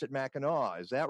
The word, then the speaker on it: Mackinac: my misspent youth it's spelled mechanic but you pronounce it Mackinac is that right well it's Mackinac with aw4